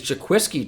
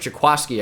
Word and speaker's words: Jaquiski: Free safety is Jaquiski Tart. Jaquaski, I should say, it's pronounced.